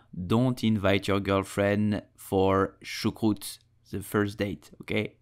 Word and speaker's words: choucroute: So you will say choucroute.